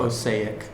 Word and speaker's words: Osijek: Osijek. How do you pronounce it? We're not sure. Osijek? Can't even spell it. Osijek. That's right. Osijek. Osijek. That sounds good.